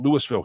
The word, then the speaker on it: Lewisville: Um, Kentucky you would pronounce it Louisville, but we kind of call it Lewisville here.